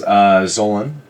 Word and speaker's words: Zolan: My name is Zolan. Zolan. Yeah. A little more enunciation on that second syllable than normal, but hey, I'm not, Zolan.